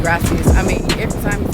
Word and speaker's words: gracias: Baby got carried away with saying gracias. I mean, every time you say something to somebody, it's gracias. He ain't even saying it right. Gracias. Roll your R.